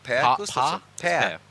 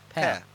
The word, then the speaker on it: Per: Per? Per. Just basically like it would be an E. Yeah. In English.